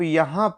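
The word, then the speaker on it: ewe: यही मैं आपको समझाना चाह रहा हूँ, क्योंकि इसका प्रोनाउंसिएशन अगर आप करेंगे तो इसका प्रोनाउंसिएशन होता है यू।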